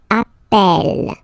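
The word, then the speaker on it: appelle: change the pronunciation of you tend to pronounce it like e e really open that's the reason why you pronounce it Appel Appel okay Appel Appel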